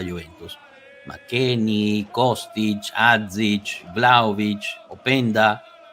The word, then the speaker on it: Openda: McKennie, Kostic, Adzic, Vlahovic, Openda. ¿Es Openda o Openda? Openda. Es Luis Openda. Openda, no. ok. Él lo pronunció y dijo Luis Openda.